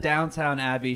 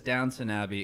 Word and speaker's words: Downton Abbey: Alex, I said Downtown Abbey. She says Downton Abbey. Explain to us what I'm doing wrong. You're saying it wrong. It is, Downton Abbey.